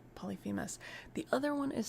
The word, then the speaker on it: Polyphemus: Polyphemus. The other one is spelled Phorcys.